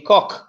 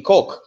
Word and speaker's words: Koch: she is from the Koch family. But yes. It's in pronounced in German, it would be Koch, but K-O-C-H, right.